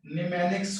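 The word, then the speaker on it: mnemonics: पहले बता चुके हैं, इसमें जो है ना यूज करते हैं निमेनिक्स कोड, जहां पे एम साइलेंट होता है, और इसको बोलते हैं निमोनिक्स कोड।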